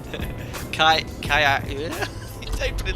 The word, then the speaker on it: Ajaccio: Sam, if I may capture the pronunciation is Kaya.